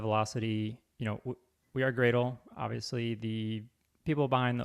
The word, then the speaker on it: Gradle: got it wrong uh do you pronounce it Gradle or as my friend from Singapore Delights in suggesting to troll me is it more like Bradley or gradley uh Gradle okay it's only been like